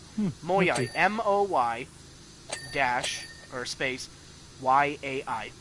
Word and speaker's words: Moyai: Ah, thank you for the pronunciation. Moyai? Moyai.